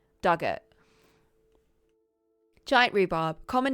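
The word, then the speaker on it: Dugort: Pronunciation, Dug like the past tense of dig, or rhymes with hurt. Duggett.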